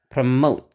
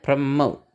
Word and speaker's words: promote: diberi tekanan atau tidak kalau misalnya tidak diberi tekanan berarti si o-nya bakal jadi Sua ya dan itu bakal dibacanya cepat ya jadi pre pre gitu cepat terus ee yang suku kata bertekanannya itu yang dibaca panjang dengan suara keras dan nak ada yang lebih tinggi promote gitu promote nah kata turunannya pun sama pengucapannya promote promotion gitu ya promotion